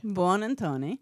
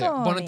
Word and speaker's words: Buonantony: So if you just say it like really fast with flair, that'll work too. Buonantony.